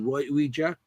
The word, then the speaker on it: Ouija: How do you say Ouija? Isn't that not Ouija? Ouija. It's Ouija. That's the actual pronunciation for it. Okay. There was actually some advertisements back at the turn of the century where they put in the pronunciation key in there, so it is Ouija.